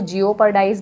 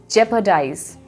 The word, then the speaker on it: jeopardize: Usually जो है लोग इसको मिस प्रोनाउंस करते हैं, इसको जियोपर्डाइज बोला जाता है. So guys, it इज़ नॉट जियोपर्डाइज. इसकी जो करेक्ट प्रोनाउंसिएशन है वो है जेपर्डाइज.